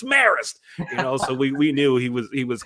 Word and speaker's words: Marist: It's not Marist, it's Marist.